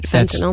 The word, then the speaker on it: fentanyl: you gave the correct pronunciation of this drug that Prince died from. Right, fentanyl.